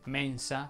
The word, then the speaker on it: mensa: non ti tempo anche le parole che terminano con hans più una qualsiasi vocale richiedono una pronuncia aperta parole che terminano inhance sono ad esempio mensa forense circense denso penso